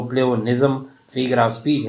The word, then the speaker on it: pleonasm: में आप लोग देख रहे हैं कि उसकी प्रोनाउंसिएशन यानी प्लेओनिज्म है और उसका मतलब ज़ायदुल अल्फाज है या ज़ायद अल्फाज है, यानी ज़्यादा अल्फाज का इस्तेमाल करना।